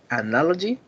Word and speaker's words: analogy: and the ninth is analogy it has four syllables and on the second one is the stress and now and the